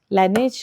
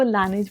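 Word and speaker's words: Laneige: ये मैंने अपनी फ्रेंड के लिए कुशन लिया है फेस पे लगाने वाला, ये ब्रांड लानेज का है। कोरिया में पता है इस ब्रांड को लाते हैं, कोरियन सब इसको लानेज बोलते हैं, मुझे लानेज की आदत है, बट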